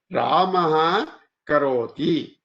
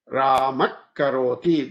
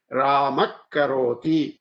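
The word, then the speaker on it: रामः करोति: Ramaha karoti. You say this Ramak karoti. This the way to say this is here K K H. There's a double Ka and a H. Ramak karoti.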